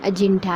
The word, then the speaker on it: अजिंठा: अजिष्ठा नामक ग्राम है, जिसका मूल उच्चारण अजिंठा है। इसी नाम के आधार पर ही वर्तमान में अजंता व्यवहार में आने लगा और हिंदी उच्चारण में इसे अजंता पुकारा जाने लगा।